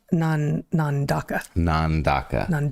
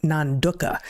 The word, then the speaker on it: Nandaka: Is it Nandaka? Nandaka. Yeah. Yeah, they give the little phonetic pronunciation. It looks like duh, not Nanduka, which is not how I would necessarily. Nandaka.